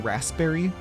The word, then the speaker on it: raspberry: You've known a few people who pronounce the P in raspberry. Wait, raspberry? Raspberry? The second R is implied, but not pronounced.